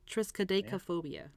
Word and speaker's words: triskaidekaphobia: okay here it goes it's a tricky one and it's like 18 letters long Triss Chi deca phobia triskaidekaphobia just good yeah oh yeah same thing triskaidekaphobia and I don't know